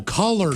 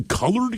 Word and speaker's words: collard: Oh, collard Collard greens, yes. Collard greens. Not the colored kind.